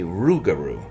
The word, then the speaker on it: Rougarou: They say Rougarou with an R. Oh, interesting. instead of Rougarou.